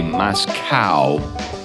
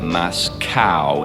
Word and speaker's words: Moscow: If you say Moscow, then you're like chastised. At least I've been chastised many times by people who said it's not Moscow, it's Moscow.